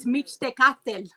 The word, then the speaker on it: Mictecacihuatl: And her name is Mictecacihuatl. Well, no, I have been pronouncing this. Give me a second. Mictecacihuatl. Pretty darn close there, Heather. So it's Mictecacihuatl.